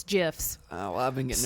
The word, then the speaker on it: GIF: I want to see more of that and less Joker gifts. Yeah. That's not how you pronounce it. It's GIFs.